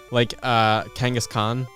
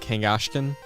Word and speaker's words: Kangaskhan: And then it's just like Kangaskhan. I've always said Kangashkan. And then I heard it out loud as the pun, and I'm like, oh, that's how it's pronounced.